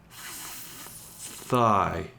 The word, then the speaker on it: thigh: Again, the GH is mostly silent here. Thigh. But it does affect the pronunciation. Again, I'm not teaching you a lot of spelling and grammar, but it is a silent pair, but it does make the I a long I. So it does indicate the I is a long I sound.